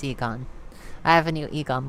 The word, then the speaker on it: Egon: got another one oh it's actually Egon dang it I always pronounce it wrong it's Eon I have a new